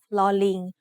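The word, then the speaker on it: ฦๅ: The other pair of vowels is similar, except they are pronounced like a combination of ลอลิง with the vowel sounds สระอึ or สระอือ ลึ and ลือ are written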